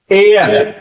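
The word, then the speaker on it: heir: हुआ ink bottle and एयर एयर देखिए एच ई ए आई आर यहां एच क्या है साइलेंट है इसलिए एयर एन आवर तो ये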